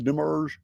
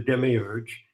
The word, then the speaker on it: demiurge: you know uh I demarge is that is that the correct pronunciation yald debath the demmerge yeah that's correct there are various names for this mysterious figure of the demiurge in the sic narrative materials right ya daboth